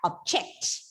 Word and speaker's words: object: And when you use the same word as a verb, the stress is shifted to the second syllable, making the word pronounced like object.